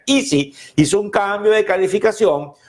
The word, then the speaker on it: ISI: Charles River Laboratories, el analista del banco Evercore IC, Evercore ISI, que es como se pronuncia, Easy, hizo un cambio de